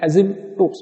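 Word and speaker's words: asymptotes: Spelling है ASYMP, पर बोलते वक्त P साइलेंट है, एसिम्प्टोट्स बोलते हैं।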